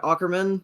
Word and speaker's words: Ackerman: The Titans fired their special teams coordinator, Craig Ackerman.